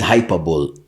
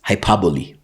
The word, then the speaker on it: hyperbole: One day that one difference is no no the difference is you know that is hyperable. Actually as as someone told me I should be pronouncing it. It's hyperbole right.